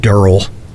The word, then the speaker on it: Daryl: Daryl, pronounced Durrell.